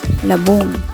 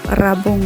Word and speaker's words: labong: So, sa Tagalog nito is labong. Ayan. Ayan, labong din sa amin, pero rabong lang ang pronunciation namin. Rabong.